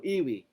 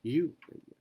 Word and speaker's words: ewe: Kung Pilipino, bibigas ito, ewe. O iwi. Pero sabi po, you. The parable of the you.